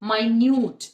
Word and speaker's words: minute: minutes of the meeting another way to pronounce it is my newt and my newt means extremely small he observed my new